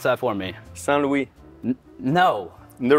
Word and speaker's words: St. Louis: St. Louis, correct.